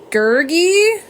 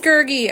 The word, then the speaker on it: Gurgy: This is Gergy. Oh, man. Chrissy told me how to say it earlier and I told her to say it wrong. It is Gurgy.